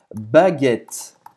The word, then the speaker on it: baguette: A famosa baguette em francês, como se pronuncia? Aha! La baguette, la baguette, la baguette.